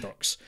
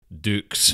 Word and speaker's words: Dux: as Frank Dux, because the film goes out of its way to mention that actually it's pronounced Dukes. Nope. No, it's not. It's not Frank. For me, he's Dux. Yes. I know you threatened to punch the screenwriter in the face, but it's most definitely Dux.